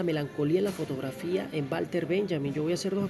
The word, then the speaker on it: Walter Benjamin: La W en alemán se pronuncia como una V o una V de vaca, V laidental. Eh, y por eso digo Walter Benjamin, ¿no? Pero en este caso, Walter Benjamin eh aunque criticaba la